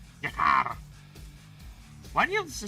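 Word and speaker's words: G'Kar: Jakar. Why do you have to spell it like that, Ali? I have to read it like that. I have to read the uh I have to roll the K.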